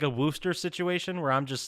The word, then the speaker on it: Worcester: No, it's Worcester. I'm like, no. It's like all the letters are silent. Except the W-O in this third. Yeah. It's spelled WORCESTER.